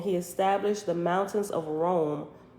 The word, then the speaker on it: Roam: established the mountains of rome r-o-a-m like rome we're gonna roll on down the street roam from country to country that's what it's called rome and it's spelled like that so brahma did as